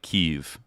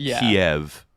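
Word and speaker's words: Kyiv: Ukra in Ukrainian it's more like Keev and then Kiev is more like Russian and so we were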